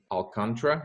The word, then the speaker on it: Alcantara: And I'm really, really excited today to have Alcantara. Is that the right way to say the name? Yeah, perfect.